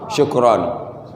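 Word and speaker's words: شكرًا: Iya, kalau dia tanpa alif misalnya ini bacanya bukan syukron tapi syukro. Itu ya. Itu. Jadi karena alif ini dia menjadi baca syukron.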